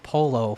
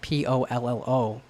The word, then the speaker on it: Pollo: I called someone in our community Polo for a long time because it's spelled Pollo, but it's Spanish, so it's pollo.